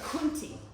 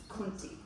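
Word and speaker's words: coontie: I'm sorry, kunti. C-O-O-N-T-I-E. Kunti.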